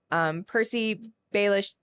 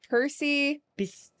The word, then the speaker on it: Percy Bysshe: the English Romantic poet Percy Baelish. I always say it wrong. Percy Bysshe. Percy Bysshe.